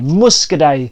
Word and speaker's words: Muscadet: a wine called Muscadet Muscadet silent T on the end speaking of silent T's